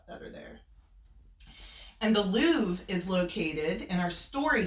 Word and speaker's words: Louvre: And the Mona Lisa is actually kept at the Louvre, and that is how it's spelled.